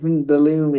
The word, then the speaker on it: Belloumi: Yeah, I think Bellamy is closer. Bellamy, yeah, like Halloumi.